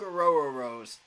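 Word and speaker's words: Orhorhoro: defensive tackle but Rook aoro Rose is top five if you're looking for a defensive tackle and yes that is actually how you say his name a row R row your boat interesting I dig it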